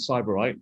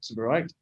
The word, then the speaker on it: Sybarite: We like to pronounce it Sybarite, but correct pronunciation is Sybarite.